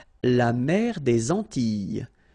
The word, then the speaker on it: Antilles: So here it's quite interesting because, well, you've got this E and then double L, S. Okay? So final S and really you don't pronounce them. So you get this E sound.